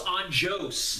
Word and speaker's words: Anjos: pronounce all the hufflepuff rafael dos anjos yes because it's brazilian brazilian so it's a hard j um wow this one